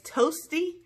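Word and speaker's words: Toesty: so next is toes it's it's toasty but it's spelled t OE s - t Y so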